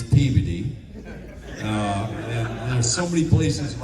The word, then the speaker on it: Peabody: It's Peabody.